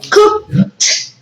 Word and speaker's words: cooked: the pronunciation of this that is like that cheese on right so don't forget this cooked cooked that tea at the end right excellent thank you